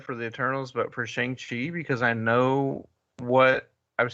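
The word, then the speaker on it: Shang-Chi: chi stuff by the way they've changed the pronunciation of shanxi which which i do not like so i appreciate that we're leaving it at shang chi here oh uh because it's always been shang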